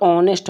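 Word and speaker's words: honest: टी ऑनेस्ट ठीक है इसमें एच व यहां पे एच जो होता है वो साइलेंट होता है इसका उच्चारण नहीं किया जाता है तो ये ऑनेस्ट पढ़ा जाता है इसमें नेस्ट नहीं होता क्योंकि एच साइलेंट होता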